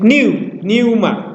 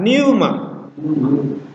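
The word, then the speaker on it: πνεῦμα: Ini dibaca seperti Pneuma, seperti ada V-nya ya. Karena ada aksen di sini, maka kita naikkan Pneuma.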